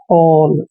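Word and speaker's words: whole: हैं ठीक है ना क्योंकि एच से पहले डब्लू कई बार साइलेंट हो जाता है इसको पढ़ेंगे हम डब्लू एच का उच्चारण है करेंगे और ओ एल ई को होल यानी कि होल मतलब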